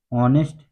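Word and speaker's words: honest: Story का title है ऑनेस्ट jenny. क्या मतलब हुआ? तो दोस्तों, ऑनेस्ट मीन्स होता है ईमानदार। जेनी एक लड़की का नाम है, एक बच्चे का नाम है। यच साइलेंट है।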